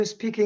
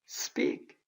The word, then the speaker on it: speak: 그런가 하면 S 뒤에 온다든가 그렇게 될 때 이 음은 뿌가 됩니다. 그래서 여러분 S 다음에 P가 이렇게 오면 Can you speak English? 이미 그것은 영어가 아닙니다. 발음이 틀렸다는 얘기입니다. 이때 이것은 이 발음이 납니다. speak.